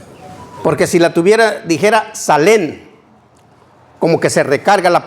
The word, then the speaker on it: Salén: Salén. Quiere decir Jerusalén. No es salén porque sigue acento en la e.